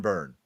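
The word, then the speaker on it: Byrne: John Burn.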